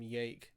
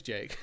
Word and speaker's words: Jake: His name's Jake. I've called him Jake. To be fair, that there is a lot of humor in like pronouncing every single J as a soft J for no reason.